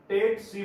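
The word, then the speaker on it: tsetse: अब कई बच्चे क्या पढ़ते हैं, कई बच्चे पढ़ते हैं सीसी फ्लाई, सीसी फ्लाई नहीं है, क्या है, दिस इज द टेट्सी फ्लाई। आपको प्रोनाउंस कैसे करना है, टेट्सी fly, this is the exact pronunciation of this vector.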